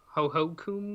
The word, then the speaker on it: Hohokum: to a game called Ho Ho Kum. I think that's how you pronounce it. It's HOHOKUM.